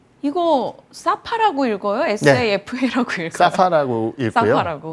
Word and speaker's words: 사파: SAFA라고 읽어요? 사파라고 읽고요.